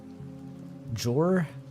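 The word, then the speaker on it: Joar: Jor? They're like Swedish, right? I'm not sure. Yor. Okay, it is Yor.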